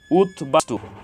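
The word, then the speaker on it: উদ্বাস্তু: বফলার উচ্চারণ অবিকৃত হয়েছে উৎ বাস্তু এখানে উৎ এর সাথে ব ফলা যুক্ত হয়েছে এজন্য ব ফলার উচ্চারণ অবিকৃত হয়েছে উৎবিঘ্ন এখানে উৎ এর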